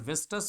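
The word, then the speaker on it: Vistas: Supplementary book जो आपकी विस्टस है, विस्टस, ठीक है, इसका उच्चारण विस्टस होता है।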